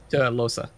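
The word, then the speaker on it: Lohse: Losa. Losa. Losa. All right, that's how you pronounce it.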